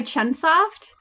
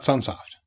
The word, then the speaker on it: Chunsoft: machi here it's a made by Chunsoft and it's so soft chance at CH UNS oft also not sunsoft no there's just like a mispronunciation sunsoft but it's sort of